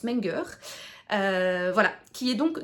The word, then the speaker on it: Menger: Menger, voilà, c'est un allemand donc je pense que ça se prononce Menger.